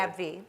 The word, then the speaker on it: AbbVie: We have Jennifer Van Camp, Vice President, R&D Data Analytics at AbbVie. Have I pronounced that incorrectly? AbbVie.